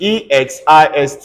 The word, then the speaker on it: exist: In EXIST, it's not going to be K. It's going to be pronounced as X. So this is called exist. Everybody say exist. Exist.